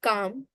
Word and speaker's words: calm: In the word calm, there is no L meaning there is no sound of L. Which means you just have to pronounce the sounds of C, A, M.